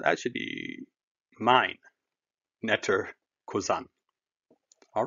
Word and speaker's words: Cousin: Remember, now, as I said yesterday, a cousin is pronounced cousin, not cousin or cousin.